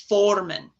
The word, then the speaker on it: Formen: This is north, and it is pronounced Formen. Formen.